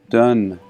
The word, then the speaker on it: Dunedin: Dunedin, or forgive me, many people corrected me, and it's pronounced Dunedin.